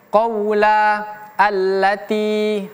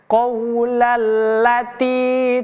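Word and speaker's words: قَوْلَ الَّتِي: Nah, huruf lam di sini itu memiliki tasydid. Huruf yang memiliki tanda tasydid seperti ini, maka dia harus dibacanya dengan menekan kemudian melepaskan. Qaula Allah, qaulalla, Allah, Allah, ya, bacanya seperti itu.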